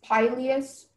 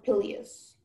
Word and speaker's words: pileus: Your word is pileus or pileus. It's a homonym, so I'm going to give you all the information. So it's pronounced pileus or pileus.